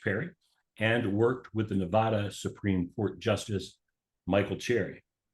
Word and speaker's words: Nevada: So you are in northern Nevada.